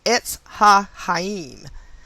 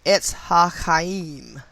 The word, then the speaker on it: Etz HaChaim: As we learned last chapter, the Hebrew name for the tree of life is Etz HaChaim, which is spelled E-T-Z, small h-a, capital C-H-A-Y-I-M. Tree of life, Etz HaChaim.